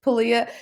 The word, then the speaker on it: Pilea: Palia, hey Talia, I just saw Talia rhymes with Palia, Oh, and that's so weird.